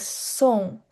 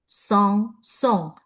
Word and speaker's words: Song: like a nasal sound song. Um but we do not pronounce the letter G like a G separately. So here we can treat G as silent but with a little like a nasal sound.